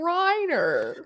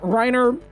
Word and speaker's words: Reiner: right this time writer you just call me rainer did i pronounce that wrong i'm reiner wow not rainer reiner but uh reiner runs a podcast called